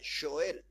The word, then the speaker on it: Joel: Y en realidad se pronuncia Joel, así se pronuncia, Joel.